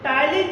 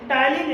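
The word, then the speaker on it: ptyalin: सबसे पहला एंजाइम है जिसका नाम है टाइलिन एंजाइम। क्या नाम है? टाइलिन। टाइलिन एंजाइम को बोलते हैं क्या? Salivary amylase enzyme. Slavery amylase enzyme. तो देखिएगा टाइलिन में यहाँ पे पी साइलेंट है, पी साइलेंट है।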